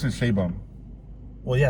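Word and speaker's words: Sheinbaum: But they pronounce it Shaybum.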